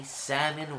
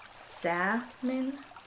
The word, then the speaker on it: salmon: you get something right even as you say salmon wrong Salon if it's pronounced like that why does it have an L in the middle of it to deliberately trip up idiots like you can't you